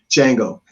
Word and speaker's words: Django: uh the django again django the d is silent no um so as